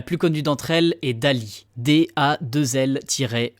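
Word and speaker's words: DALL-E: connue d'entre elles est Dali da2l e qui se prononce donc à l'anglaise Dali en référence au célèbre peintre surréaliste Salvador Dali cette intelligence artificielle crée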